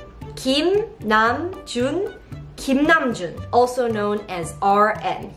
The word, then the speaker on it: 김남준: And in this video, you are going to learn how to pronounce BTS members' Korean names correctly. Then let's start. The first name is 김남준. 김남준. 김남준.